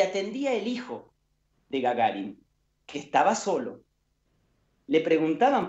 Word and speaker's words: Gagarin: El chiste contaba que alguien llamaba a la casa de los Gagarin, o Gagarin, como me dijo mi amigo ruso, Denis Bayanov, que se pronuncia, Yuri Gagarin, el primer